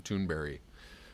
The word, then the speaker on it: Thunberg: Still hearing differing ideas about how her name is pronounced. I've heard her directly say her name, Thunberry, but I don't know if that's right or not.